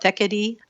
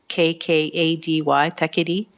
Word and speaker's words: Thekkady: It's called Thekkady. I'll spell it Thekkady, Thekkady.